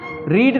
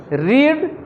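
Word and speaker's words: read: रीड का third form क्या होगा? सर यही है। यही सेम है। रीड रेड रेड।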